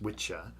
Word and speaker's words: wicca: And so there were two words, the masculine witcher, which is wicca, pronounced witcher, and the feminine wic pronounced witch.